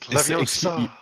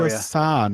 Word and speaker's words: Leviosa: Yeah, you gotta say it. Leviosa. Yeah, we'll all It's do it for you. Leviosa, not Leviosa. Yeah, you guys can have fun with saying that.